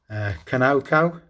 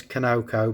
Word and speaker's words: Conoco: Conoco, some people pronounce it, but I know it is Conoco because the refinery is just down the road from me.